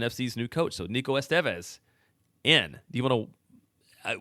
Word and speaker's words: Estevez: The accent is on the second syllable. You said it right. You said it right just now. Okay. Estevez, Nico Estevez.